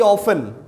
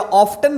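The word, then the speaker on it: often: अभी जैसे हमने एक वर्ड यूज किया फ्रिक्वेंटली, कई बार आपने देखा होगा वेरी ऑफन या ऑफ्टन भी होता है, ऑफन या ऑफ्टन. British and American pronunciation differs.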